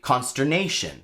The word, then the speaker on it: consternation: The stress in that word is nay. Because think about it, you don't say consternation or consternation. You say consternation.